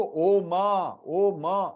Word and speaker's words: ओम: कोई लोग तो ओ मा, अरे मा थोड़ी है, इट इज हाफ म. ओम. O को प्लुथ 3 times extend and half म.